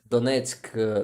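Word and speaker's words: Донецьк: I'm not pronouncing donet I'm going to say it in Ukrainian uh this is why this is going to be uh easy to pronounce it donet donet donet you see much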